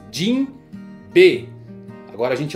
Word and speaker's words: Jinbe: Se você pegar a pronúncia aqui no português, vai ficar Jimbe, né? Jimbe. É tipo João, entendeu? É Jimbe. Agora se você vai no Japão, a pronúncia é um tanto quanto diferente porque eles parecem que separam as palavras Jin B.